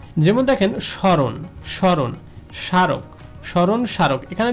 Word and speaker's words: স্মরণ: কিন্তু শব্দের শুরুতেই রয়েছে, শব্দের শুরুতে যদি ম ফলা যুক্ত থাকে সেক্ষেত্রে ওই ম ফলাটা উচ্চারিত হবে না, অর্থাৎ এই মটাকে বাদ দিয়ে আমাদের উচ্চারণ করতে হবে স্মরণ।